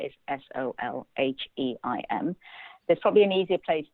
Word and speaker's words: Solheim: Deu is Deu, and Solheim is Solheim.